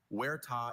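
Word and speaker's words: huerta: Werta is a piece of highly cultivated land as for an orchard in Spain.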